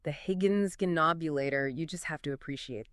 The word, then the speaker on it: Higgins Ghinknobulator: The Higgins Ghinknobulator. You just have to appreciate that. You really do. Can you say that again for us? Of course. It's pronounced Higgins Ghinknobulator.